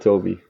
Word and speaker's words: Tobe: Can you pronounce it how you would pronounce it, Tobe? In Dutch? Tobe. Whoa, sounded the same to me. What about what's an acceptable way for us dumb Americans to say it? I don't mind Toby.